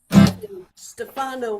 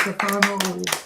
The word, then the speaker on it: Stefano: All right, everybody, it's Stefano. Yay, Stefano. And to be a real pain in the ass, it's Stefano. Stefano. Okay. That's the Italian pronunciation.